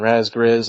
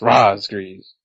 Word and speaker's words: Razgriz: called me Raz and Ras Grizz and I got tired of it telling them then that's not how you pronounce my name it's Ras grees and Spar made a